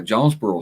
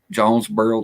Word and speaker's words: Jonesboro: But no, Jonesboro storytelling, Scotty, you need to look into that.